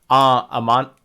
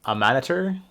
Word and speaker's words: Amaunator: I was actually correct. It just I was saying it wrong. Amanator, Amaunator.